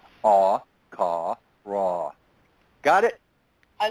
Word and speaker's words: Allfaaraa: But Allfaaraa, okay, might as well be Allfaaraa, okay, right? Right? Most angelic names are 3 syllables.